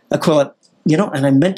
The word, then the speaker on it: Aquila: And please tell me that I've pronounced that correctly. Aquila. Aquila.